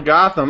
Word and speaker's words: Gotham: Pronounce the T. Where'd you get that, man? Little Gotham.